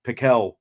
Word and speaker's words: Pickell: So Pickell apparently is how it's pronounced.